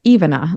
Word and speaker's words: Ivana: And the name is pronounced Ivana, like even a kid can say it, or evening, which can be it